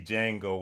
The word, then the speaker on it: Django: in in the movie Django where the guy asked him if he knew how to spell Django and he said the D is silent because that's what Retoan Hill told me one day.